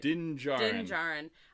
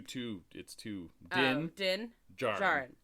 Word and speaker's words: Din Djarin: Din Djarin. So it's two. Din Djarin.